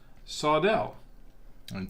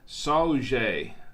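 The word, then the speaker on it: saúde: they say in brazil sawdell oh no it's not pronounced that they've got the pronunciation down here saujay i guess this by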